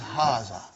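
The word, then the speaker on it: هذا: to erase it see it is pronounced like hara but this alif is not written it is explained in the key also so it is haza okay means this and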